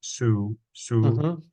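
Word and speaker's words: གསུམ: and so the prefix, so the prefix makes the sa high, so it's a sa, so it's a su, so it's a su, a sum.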